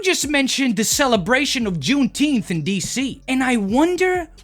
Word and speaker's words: Juneteenth: because you might end up getting killed it's juneteenth jesse june 18th and am i really teaching